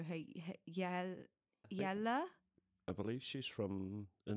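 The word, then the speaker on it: Hjejle: Yeah, I'm guessing the J is silent, so Hayelia.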